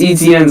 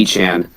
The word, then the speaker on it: Etienne: Travis Etienne's last name is apparently it's not you don't pronounce it Etienne. It's apparently Achan. I'm not bullshitting. He literally said it on an interview. Like Achan, like Devon Achan or Achan.